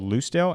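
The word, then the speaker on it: Lucdale: And our town is called Lucale. L U C D A L E. But it it never pronounces it right. So in the script I actually have to write loose. L O S E Dale. Loose Dale.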